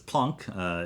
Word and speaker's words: Planck: names correctly or not but it's plunk if you were if you were mr. plunk the professor plunk that's that he who pronounce it and of course Einstein